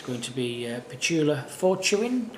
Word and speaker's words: Fortuin: It's going to be Petula Fortuin, pronounce that one?